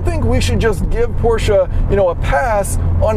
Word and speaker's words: Porsche: And then the Porsche Taycan Turbo, yes, it is pronounced Taycan, not Taken, even though that's how it's spelled.